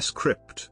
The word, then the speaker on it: scrypt: script in cryptography script pronounced script is a password-based key